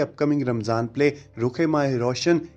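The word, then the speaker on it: रुख़-ए-माह रोशन: तो इस ड्रामे के नाम को पहले गलत प्रोनाउंस किया जा रहा था और रुख माह रोशन कहा जा रहा था, लेकिन इसका सही जो प्रोनाउंसिएशन है वो रुखे माह रोशन होगा।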